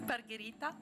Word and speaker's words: Margherita: J'ai bien prononcé? Oui, très bien. À l'italienne? Oui, Margherita.